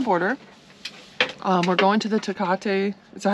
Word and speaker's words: Tecate: We're going to the Tecate, is that how you say it? Tecate?